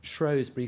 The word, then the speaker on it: Shrewsbury: But also, ask yourself, though, where does the pronunciation of Shrow come from? Why is it there if it's always been Shrewsbury?